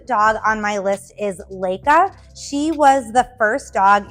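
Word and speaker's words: Laika: on my list is Leica she was the first dog in space and I hope I'm pronouncing her name right it's l a i Ka a I believe it's Lea uh she was sent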